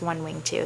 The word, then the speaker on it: 1w2: It's 1 wing 2. That's how it's pronounced.